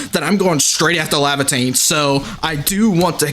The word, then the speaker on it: Lavatane: um and Lavatane or Lavitane because I think that's how it's pronounced. But um I kept saying Livotane because there's no I in ae.